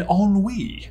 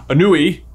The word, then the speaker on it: ennui: We've got anxiety, envy, embarrassment, and ennui. A word I was definitely not pronouncing Ennui for a while there.